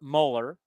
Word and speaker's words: Mueller: waldochuk well we believe how you pronounce this kid's name is Mueller m-u-l-l-e-l m-u-l-l-e-r molar like the Mueller report uh Walter Chuck yeah